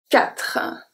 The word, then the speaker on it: quatre: So we don't pronounce the E at the end. Des is good. Quatre.